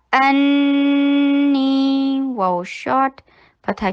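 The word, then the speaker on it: أني: अन्नी हमजा शदीद, फतहा के लिए जबड़े को खोलिए, हमजा को शिद्दत के साथ प्रोनाउंस कीजिए, नून के ऊपर 2 हरका गुन्ना कीजिए। अन ये गुन्ना किया और स्ट्रेच कैसे किया? नी 2 हरका लॉन्ग क्योंकि मद तबी है।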